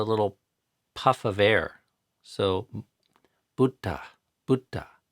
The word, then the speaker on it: Buddha: in our country that even I have a hard time pronouncing Buddha properly. I say Buddha, which is how an American would say it. But if you want to say it the poly way, it's Buddha.